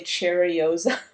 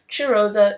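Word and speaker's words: Cheirosa: started mentioning this fragrance I would say cherosa and that was obviously not how you pronounce it but this is chosa 71 it's a body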